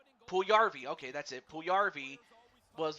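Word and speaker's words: Puljujärvi: Anyway, Puljavari, I can't even pronounce this young man's name. Puljarvi, okay, that's it.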